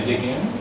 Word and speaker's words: Modigliani: So it was very much around just color and line, and very almost like more, how do you say, Modigliani? Am I saying this properly? Yeah, Modigliani.